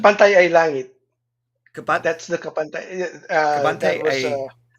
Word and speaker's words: Kapantay ay langit: What was the Tagalog pronunciation? Kapantay ay langit.